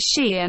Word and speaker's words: 昔颜: Xi Wan Yan 2 Yi 3 Xi 4, the Xian in this is pronounced the same as Su Xian.